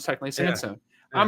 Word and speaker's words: Sansone: It is Sansone.